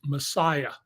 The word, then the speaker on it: MSIA: The story I left the LA Times over, was an expose of the cult in Hollywood, the MSIA, pronounced Messiah, uh, run by a